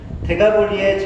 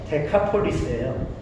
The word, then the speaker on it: 데카폴리스: 데가볼리의 정확한 발음은요, 데카폴리스예요.